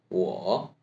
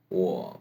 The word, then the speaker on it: 我: 我们我 is what part in the word war. What in third tone by adding some hoarse voice.